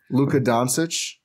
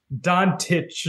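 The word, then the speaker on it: Dončić: Sorry, how'd you pronounce that? Luka Doncic. Yeah. Someone should tell Lisa that. Luka Doncic. No, she's like Dontich or something.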